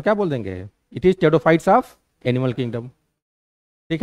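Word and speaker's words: Pteridophyta: बोल देंगे, इट इज टेडोफाइट्स of animal kingdom. ठीक है, तो नहीं कुछ, हाँ पी साइलेंट होता है, टेडोफाइटा में पी क्या होता है, साइलेंट होता है।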